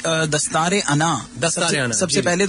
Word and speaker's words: Dastaar-e-Anaa: इट्स दस्तार अना दस्तारे। दस्तार is turban. Turban और अना इज ईगो।